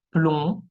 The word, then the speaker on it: plomb: Ahora, la letra B muette, mudas, tenemos plomb, plomb, ¿ok? Plomo, aplomb, está de plomo, y surplomb, ¿ok? Jamás se va a pronunciar la B al final.